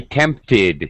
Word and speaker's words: tempted: okay I won't be tempted yeah okay tempt ends with a T sound so you add the extra syllable that was good all